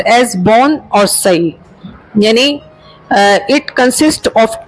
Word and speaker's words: bonsai: Actually बोनसे is pronounced as बोन और सई।